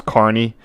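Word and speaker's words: Kearney: this is um key k e a r n e y pronounced carny sorry one second that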